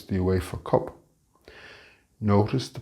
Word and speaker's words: UEFA: Maybe it's the UEFA Cup. Notice the pronunciation of UEFA. The U in English is always pronounced like you when it is at the start of the word, unlike the Spanish pronunciation.